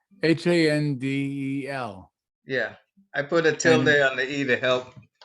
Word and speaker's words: Handel: No, they've changed my name quite a few times, so I put the accent on the E. Oh, I I'm sorry. How did I do that again? There we go. Accent on the E. Handel.